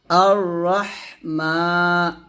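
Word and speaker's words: الرحمن: জন্য যিনি জগৎসমূহের রব তারপর আর রাহ এখানে দেখুন আলিফের জবর জের পেশ কিছু নাই তো এরকম থাকতে পারে আয়াতের শুরুতে আলিফের উপর জবর জের পেশ কিছু থাকবে না তো এরকম যদি পান আর যদি পরের হরফ লাম পান তাহলে আলিফের উপর জবর দিয়ে পড়বেন হামজাহ র জবর আর এরকম র হা জবর রহ রহ বাতাস বের করবেন আর রহ মিম খারা জবর মা এক দিবেন আর রহমান নুনকে রকে ধরবে নুন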